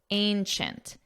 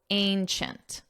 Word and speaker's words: ancient: And notice the pronunciation. Chint chi chi chint, ancient, ancient.